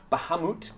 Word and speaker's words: Bahamut: of people were very mad at me for pronouncing wrong last time so Bahamut Bahamut yep uh an ally you recruited Cassandra